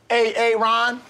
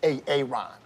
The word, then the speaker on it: Aaron: Now, A-A-Ron, where are you? Where is A-A-Ron right now? No A-A-Ron, huh? Well, you better be sick, dead, or mute, A-A-Ron.